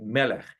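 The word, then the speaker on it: מלך: The word for king in Hebrew is pronounced like melech.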